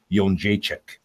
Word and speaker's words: Jędrzejczyk: So apparently, the real pronunciation is Joanna Jędrzejczyk.